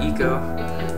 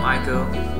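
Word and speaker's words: Ico: is that dude uh Eco some people call him Aiko but I heard it's pronounced e uh he finds zort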